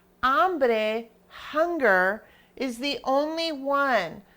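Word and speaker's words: hombre: that's here is because it's ombre remember we don't pronounce the H at the beginning of the word so therefore to make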